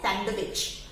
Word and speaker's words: sandwich: नो, इसमें आपको अपने सैंडविच में थोड़ा सा कुछ कट करना पड़ेगा, और वो क्या काटना पड़ेगा? वो है डी. डोंट वरी, आपको अपनी मेयोनीज या कुछ और कट नहीं करना, उसमें आपको डी को कट करना है सिर्फ बोलने के लिए. तो दिस विल बी सैंडविच.